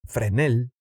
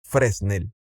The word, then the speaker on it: Fresnel: lente convergente, incluyendo los lentes Fresnel o lentes Fresnel, pronunciándolo directo del español.